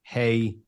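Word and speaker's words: הִוא: spelled hey vav aleph, but it's definitely he, not who, because we know it's feminine, and we have no received tradition of it ever being pronounced heave.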